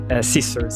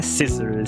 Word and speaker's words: scissors: Então, tesoura não é scissors. Fica até estranho. Sissors. Tesoura é scissors.